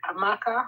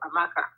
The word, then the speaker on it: Amaka: of pronouncing it it's it's like amaka it's like Amanda goes the same way so amaka amaka okay yeah it's